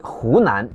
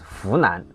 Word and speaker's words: Hunan: For instance, many people in Fujian or Hunan struggle with distinguishing he and fu sound. Like Hunan, they might pronounce Funan. Fujian will be Hujian.